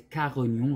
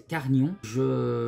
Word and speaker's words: Carignon: Par exemple ici, Carignon, hein, parce que tout à l'heure je prononçais Carignon, vraiment toutes les syllabes, c'est Carignon.